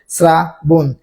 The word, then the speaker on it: শ্রাবণ: একটা হসন্ত চিহ্ন হবে মধ্যান্যটা দন্তান্য হয়ে যাবে স্রাবন সৃষ্টি বানানে দেখে দন্তস ঋকার রয়েছে তাই এখানে